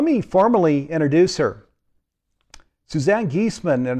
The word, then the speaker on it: Giesemann: formally introduce her suzanne geesman and it's pronounced geeseman is a highly sought